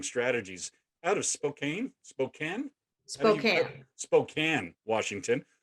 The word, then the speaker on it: Spokane: out of spokane spokane spokane washington you know it looks it's spelled spokane but i'll go with spokane since you now live there um she's with us